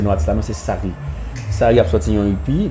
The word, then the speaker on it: Sareeh: Bah le prononcer mal prononcer notre là, non c'est Sari.